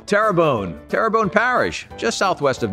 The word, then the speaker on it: Terrebonne: wachita parish a wachita parish a wachita parish terrebonne parish terrebonne terrabone parish tarabani terrebonne terrebonne parish just southwest of new orleans houma